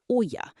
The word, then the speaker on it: olla: A buried ola, pronounced oya, bleeds moisture directly into the dry dirt.